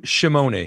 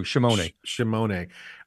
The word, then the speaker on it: Scimone: One of the things that you interviewed John Scimone, I think that's how you pronounce John Scimone. Shimone. I had it wrong too. Shimone.